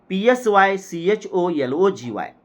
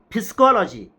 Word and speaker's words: psychology: we have studied psychology PS y c h o l o g y suppose instead of pronouncing it psychology if I pronounced it physcology then what will happen the